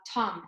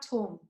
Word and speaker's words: Thom: So most people say Tom, and I've adopted that. So when I'm in Germany, okay, then I use however you pronounce it in Germany, because people are familiar with that and they know then exactly what the spelling is. But here, when I'm answering the phone or whatever, then I say Tom because it's easier for people.